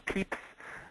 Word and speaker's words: Pepys: to pepis or peeps we could really say them either way either one is fine um I think the old English pronunciation or the English pronunciation would be peeps um but pepas I think is a lot more familiar to us um so here